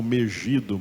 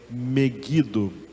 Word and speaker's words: Megido: Vale do meguido que Alguns chamam Megido mas a pronúncia correta é meguido da onde vai surgir